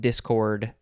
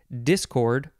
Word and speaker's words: discord: the second form of Discord you can emphasize either syllable Discord or Discord intransitive verb from The